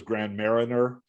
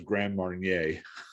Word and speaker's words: Grand Marnier: When you said the liquor is Grand Marnier, it's Grand, and it's French is Grand Marnier.